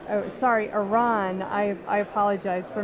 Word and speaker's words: Eran: great time so far to my left is Aaron kins Bruner who is an evangelist at perfecto Aaron sorry Iran I apologize for mispronouncing your name so how does it show